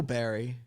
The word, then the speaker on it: Bar: she said you know barry she said that's the nickname she and his grandparents used for him when he was growing up often shortened to bar pronounced bear there are people in